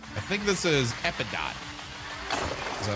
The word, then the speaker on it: Epidote: I think this is Epidot. Is that how you pronounce it? Yeah, Epidote.